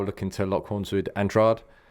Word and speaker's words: Andrade: to lock horns with andrad andrade andrade here we go three different versions of that pronounced um so uh